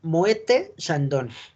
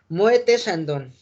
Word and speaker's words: Moët: Pronunciación Moët Chandon. Déjenme traer el pizarrón. Si se pronuncia Moe, tal cual la palabra, recuerden que las T no se pronuncian, pero en el francés pasa algo muy curioso. ¿Dónde dejé mi plumón?